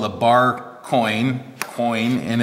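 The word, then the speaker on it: quoin: tool um this is what's called a bar coin coin and it's spelled uh quo i n and it's made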